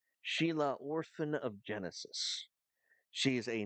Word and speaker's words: Xi'laa: course our Vitality Mage now I know that spelled funny but it is pronounced Sheila Sheila Oran of Genesis she's